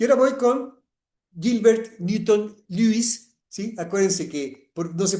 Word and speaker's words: Lewis: Y ahora voy con Gilbert Newton Lewis, ¿sí? Acuérdense que, no sé por qué, pero en inglés esta EW se pronuncia U, ¿sí?